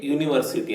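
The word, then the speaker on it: university: confuse ಆಗ್ತದೆ ಅದನ್ನು ನೋಡೋಣ ಈಗ ಕೆಲವೊಮ್ಮೆ ವೊವೆಲ್ ನಿಂದ ಪದ ಆರಂಭವಾಗಿದ್ದರು ಉಚ್ಚಾರದಲ್ಲಿ ಕಾನ್ಸೋನೆಂಟ್ ನ ಧ್ವನಿ ಕೇಳಿ ಬರುತ್ತದೆ ಉದಾಹರಣೆಗೆ ಒಂದು ವಿಶ್ವವಿದ್ಯಾನಿಲಯ ಅಂತ ಉಂಟು ಇದನ್ನು ಇಂಗ್ಲಿಷ್ನಲ್ಲಿ ಎ ಯೂನಿವರ್ಸಿಟಿ ಅಂತ ಹೇಳಿ ಹೇಳ್ತೇವೆ ಆಯ್ತಾ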